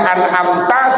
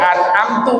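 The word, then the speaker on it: أنعمتَ: orang bacanya Salah ya umpamanya anamta dibaca anamtu umpamanya atau an'amta dibaca anamti Wah ini bahaya ini maknanya ini makanya kemudian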